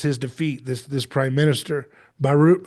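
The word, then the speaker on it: Bayrou: Baru, how do you say his name? Baru?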